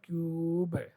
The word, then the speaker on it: cube: Here it is silent E at the end of word, and before E, U is vowel, and it will add length to this U, so this will be called cube.